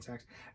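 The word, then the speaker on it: Sachs: name um jed reese robinsox sacks sax s-a-c-h-s sacks robin sacks patrick greene missy pyle justin long rayne wilson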